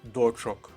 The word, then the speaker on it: дочок: був у руках своїх дочок акцентую вашу увагу наголос у слові дочка останній склад але родовий відмінок множини дочок третій фразеологізм пестунчик долі